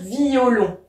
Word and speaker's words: violon: j'ai bien mis en fait qu'il fallait dire violon parce que si donc c'est ce qu'on appelait à diérèse ici pareil je dois prononcer mon e blesse mon cœur blessé mon